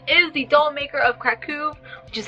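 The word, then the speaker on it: Kraków: The next book that I really want to get to this month is The Doll Maker of Krakow, which is how you pronounce it, by the way, by R.M.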